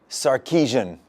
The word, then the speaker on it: Sarkisian: steve sarkeesian welcome to the set david show i want to get the pronunciation of your of your name right did